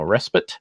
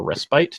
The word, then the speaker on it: respite: Enemy No Mercy no respite or respite depending on how you like to pronounce that uh warp craft